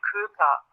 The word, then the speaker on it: Köker: Das ist Frau Hilde Köker mit K, also K-U-E-K-E-R.